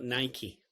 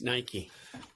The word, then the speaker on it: Nike: victory who was called Nike which rhymes with spiky interesting it's Nike it's all these chaps